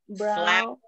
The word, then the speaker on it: brow: It's pronounced brow.